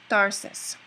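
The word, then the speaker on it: Tharsis: So a Spaniard would pronounce it with a dental T, Tarsis, sounding almost exactly the same as the word Tarshish from the Bible.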